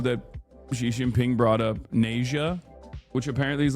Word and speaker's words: Nezha: Is it Nasia? Is that how you say it? Nasia and Nasia 2. Oh, it's Nasia.